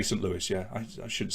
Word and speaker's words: Saint Louis: the pronunciation jen lewis saint louis as in the cardinals right saint louis yeah